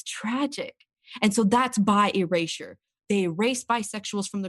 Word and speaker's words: bi erasure: I've actually mispronounced it in this podcast. It's bi erasure, not bi erase. Right. It's bi erasure.